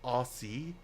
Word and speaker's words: Aussie: Or as Americans or Canadians say, Aussie. Aussie. Whereas we're just like Aussie mate. Aussie, you basically say it as if you're saying o zed i e.